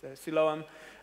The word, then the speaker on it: Siloam: How do you say it in English? Siloam.